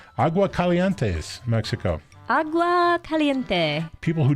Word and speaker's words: Aguascalientes: They're built in, I like to say this and I don't pronounce it correctly, Aguascalientes, Mexico.